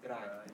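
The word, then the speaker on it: drei: z what about three dry dry good is so pronounced just like the word dry what about four fear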